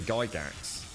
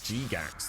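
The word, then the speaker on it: Gygax: be honest gary geigs i was never sure how to pronounce his name i always said gary geigs i don't know it was g-gax though dairy guy dance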